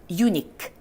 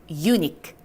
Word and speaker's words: unique: uni에다가 그냥 Q가 키읔이니까 크. 다시 한번 Q가 키읔이니까 크로 마무리 지어주시는 거예요. 이걸 막 unique에 하시는 게 아니라 unique. 한 번 더. unique.